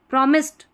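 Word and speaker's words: promised: ऐसे सही रहेगा प्रॉमिस्ड ड नहीं प्रॉमिस्ड ट साउंड आएगा प्रॉमिस्ड टू कन सी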